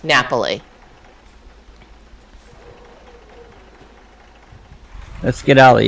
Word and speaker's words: Napoli: call it naples well naples is the name of the city but in italian it's pronounced napoli let's get out of